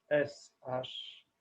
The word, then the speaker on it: Sham: en vous la syllabe Sham. S-A-S-H-A-M. S-H-A-M, qu'on prononce presque comme un U, Sham, Sham.